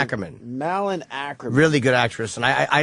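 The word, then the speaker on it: Malin Akerman: Malin Ackerman.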